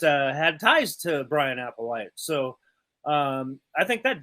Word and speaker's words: Applewhite: considering uh vince winter is that how you pronounce that in major apple white um brian applewhite brian applewhite major apple white